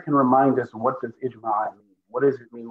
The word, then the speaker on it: ijma': Ijma. Like Jama, like a group consensus, yes.